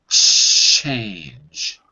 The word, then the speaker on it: change: This one is the Germanic one. Change. Change. Right. Not change, but change. Ch, like ciao, Bella.